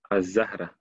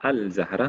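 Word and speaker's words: الزهرة: Donc, avec Alif Lam, ici on dit Ash-Shams, At-Tamr, Az-Zahra. Je ne dis pas Al-Zahra, mais je dis Az-Zahra, Al-Saqr, Al-Shajar, Al-Tufah.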